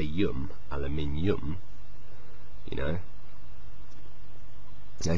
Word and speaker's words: aluminium: sounds a bit odd so naturally the stress is different they say aluminum which sounds a bit more English um as opposed to aluminum which sounds a bit funny but anyway the discoverer